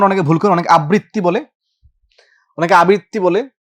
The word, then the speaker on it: আবৃত্তি: এই উচ্চারণ অনেকে ভুল করে, অনেকে আবৃত্তি বলে, অনেকে আবৃত্তি বলে।